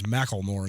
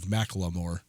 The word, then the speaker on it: Macklemore: He says Macklemore instead of Macklemore.